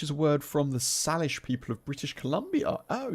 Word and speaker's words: Salish: It's pronounced Salish.